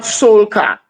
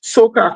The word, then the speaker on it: soca: know, the description of soca is it's not soulka. It is Mm. soca come from, it's spelled SOKAH.